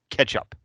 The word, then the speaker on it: k3sup: This is my favorite because I can go production ready with another open source project called K3SUP or Ketchup. Yeah, Ketchup is how that's pronounced.